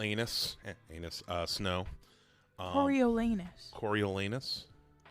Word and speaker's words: Coriolanus: young uh corol anus anus uh snow um coriolanus coriolanus right coriolanus yeah it still says anus still do spell it out coriolanus corilanus no young President Snow